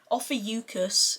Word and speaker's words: Ophiuchus: Ophiuchus is how it's pronounced according to Google. However, that sounds too close to mucus, so I'm calling it the Orpheus palette, or the Morbius palette.